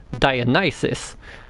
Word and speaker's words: Dionysus: So while in English it is pronounced Dionysus, which sounds silly when you look at the letters, in Polish it's Dionysos. Dionysos. Which is very similar to Dionysus, but spelled in a